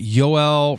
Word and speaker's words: Yoel: Yeah, the interesting thing with Twitter, I was reading a lot on this, is the head of trust and safety, that Yoel Roth guy.